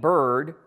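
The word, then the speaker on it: Byrd: the judges was named Adelaide bird which rhymes with absurd which is a lot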